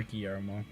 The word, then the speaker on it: Guillermo: Or Guillermo, if you actually want to know how to say it properly.